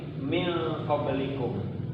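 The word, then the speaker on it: مِن قَبْلِكُم: Apakah bacanya min qablikum atau min atau dihilangkan mim likum? Cara membacanya itu min qablikum. Agak dipeng sama antara ada dan tiada.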